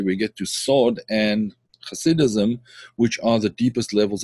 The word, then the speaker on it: Hasidism: is called Hasidic thinking, Hasidism, or for those that are not used to pronouncing the ch sound, Hasidism.